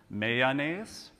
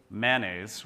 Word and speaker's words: mayonnaise: So with three syllables, mayonnaise. With two syllables, mayonnaise, or I use both interchangeably.